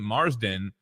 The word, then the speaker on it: Marsden: Marsden.